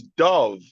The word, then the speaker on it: Dove: corrupted if you will it's Dove like the soap like the Dove soap like the bird okay I pronounce it